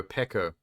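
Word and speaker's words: Peko: it's been too long sorry not Pico pekko p-e-k-o you know the swordsman chick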